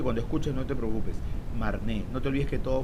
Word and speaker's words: Marne: martín así que cuando escuches no te preocupes marne no te olvides que todo francesa agarre terminación